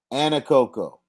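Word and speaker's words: Anahuac: good job good pick good pick and you pronounced it right Anna Coco Anna Coco B all right now I know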